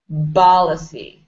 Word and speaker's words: policy: So you have to squeeze your lips together when you pronounce the P.